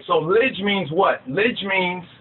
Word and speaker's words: Lij: The sermon of the Lidj. Right, L-I-J, some spell it L-I-D-J. That's the older, because the J actually is a modification of the D sound.